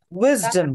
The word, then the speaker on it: wisdom: Accent on the first syllable? Yes, doctor. Doctor. Yes. Doctor. Again? Wisdom.